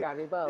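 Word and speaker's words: Garibaldi: You know, see how I pronounce the name? I got part Italian in me. What can I say? Gerabaldi.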